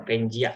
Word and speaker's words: Pangaea: Jadi dibacanya ya Pangaea seperti itu Bapak Ibu.